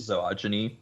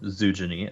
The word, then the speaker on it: zoogeny: Yeah, the nice spot from Sidewinder in the chat of very nice zoogeny or zoogeny, as I would prefer to pronounce it.